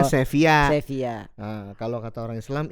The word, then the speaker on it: Sevilla: Tulisannya Sevilla, bacanya Sevilla.